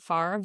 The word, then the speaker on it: Favre: It's ss and the last name is spelled like Brett Favre.